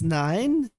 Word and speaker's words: IX: Something that's also in the easier department that I'm also going to go through um nine potentially saying I ex is pretty much pronounced as nine rumo Roman numeral.